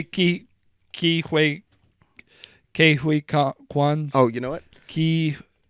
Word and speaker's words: Ke Huy Quan: I literally looked it up so I didn't pronounce it wrong. Ke Huy Quan.